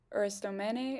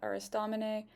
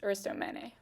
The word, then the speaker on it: Aristomene: Somehow while I was recording, I just forgot that Lucio's friend is named Aristomene and not Aristomene.